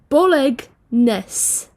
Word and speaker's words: bolognese: But mainly bolognese is spelled BOLOGNESE. Bolognese. Bolognese. Bolognese sounds like it should be spelled BOLANASE. It's bolognese. That doesn't make any sense.